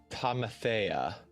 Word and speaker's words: Tamathea: And then Elder Tamathea. Ooh, you pronounced it right. Yeah. Tamathea.